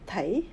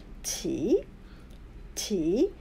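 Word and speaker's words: 始: Chúng ta không đọc sĩ, chúng ta không đọc tỷ và chúng ta cũng không đọc thỉ, mà đọc là chỉ, chỉ, hối chỉ, hối chỉ.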